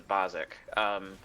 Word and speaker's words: Basics: Spelled the Basics, but pronounced the Bozic.